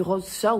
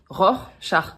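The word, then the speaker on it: Rorschach: Non, vous avez dit rose char ou je je veux pas le savoir mais on dit ror char.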